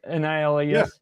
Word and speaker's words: Niles: Is that how you pronounce his name? Last name it's Niles, right? Niles. Yeah.